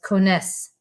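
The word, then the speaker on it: connaissent: half new cones els cones and again pronounce those s's but do not pronounce that ent let me say it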